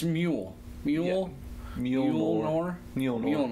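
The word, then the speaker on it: Mjölnir: he just like does a crazy job of pronouncing this meal see I always want to say mill mill New York but its mule mule mule or Neil melon or it's a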